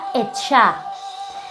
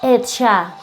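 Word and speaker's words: עצה: El espíritu de consejo en hebreo se escribe de esta manera y se pronuncia Etshah. Etshah, ¿sí?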